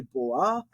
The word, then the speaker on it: בוא: type in there well some people actually will just say Bo is there a pronunciation to leave that alif on the end unpronounced I like pronouncing it um so they'll say Bo I say boa you can see that